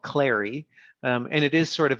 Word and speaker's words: Clari: interact with the most is a product called Clary.